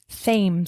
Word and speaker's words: Thames: Spelled with a TH. Thames. The Thames River. Kind of like Thom. Kind of like the name Thom.